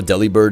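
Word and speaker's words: Delibird: Did y'all know Deli Bird is pronounced like delivered?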